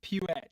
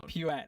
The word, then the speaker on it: Puette: legend Brad Puet. Puet. Do I say is just Puet? Yeah, Puet. Puet. Puet. Okay. Sorry. Like a little like a little church. Pew. Puet.